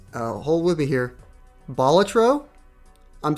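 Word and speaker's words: Balatro: hold with me here batro I'm saying it the way that I've been told is the proper way to say it I called it batro all year apparently it's batro um okay the Rog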